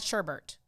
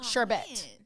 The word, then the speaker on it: sherbet: about sherbet orange sherbert it's not sherbert it's charbette i thought there's two